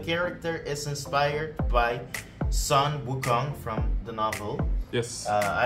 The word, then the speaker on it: Wukong: So, today we are going to be talking about Black Myth Wukong.